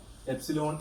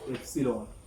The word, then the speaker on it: epsilon: Suppose that the permittivity of a particular medium is epsilon m. This is pronounced as epsilon.